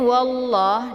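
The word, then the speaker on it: والله: Jadi cara bacanya itu ditebalkan lamnya.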